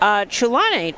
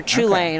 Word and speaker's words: Chulane: I believe, if you're familiar with the card, I believe the CH is like a guttural, almost like Scottish sound. Okay. Like in Loch. Okay.